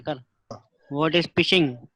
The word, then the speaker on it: phishing: इसको प्रोनाउंस जो करेंगे वो फिशिंग करेंगे।